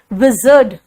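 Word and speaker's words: wizard: विजर्ड, विजर्ड कहते हैं बेटा, इसका मतलब होता है जादूगर.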